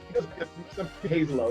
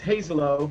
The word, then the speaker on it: Hazelo: am I pronouncing your name correctly? Hazelo, that's the way I am. So. Okay, now I got you. One more time. Yeah, it's Hazelo, but I take it either way.